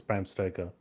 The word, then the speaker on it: Bram Stoker: Because I think it's the wife of Bram Stoker. Sorry, who? The wife of Bram Stoker. Say that again. One Actually, more time. I'm not the only person that makes that mistake. It's Bram Stoker.